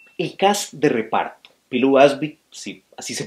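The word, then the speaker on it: Pilou Asbæk: Pilu Asby, sí, así se pronuncia, como Batu, muy bien en realidad.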